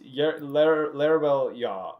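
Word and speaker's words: Larebil: you the exact thing it is l-a-r-e-b-i-l it's larabelle yog is the name which is dash y-a-g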